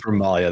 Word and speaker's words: Ramalia: Is it Ramilla or Ramalia? Remalia. Ramalia. We've been calling her Milla this whole time. Just commit to it. Yeah. It's been like a year. It's a Sword Coast pronunciation of it. Don't worry about it. It's just an accent. Ramalia. I'm going with Ramalia. That's what it's written as.